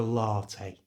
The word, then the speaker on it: latte: on to order a latte notice the pronunciation of this word it's not typically English it's l LTE you